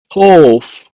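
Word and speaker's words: טוב: In Hebrew, is pronounced as tov. Tov.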